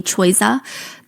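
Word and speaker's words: Choiza: She is caught by the paparazzi spending time with this rapper named Cha or I guess the English pronunciation would be Chisa.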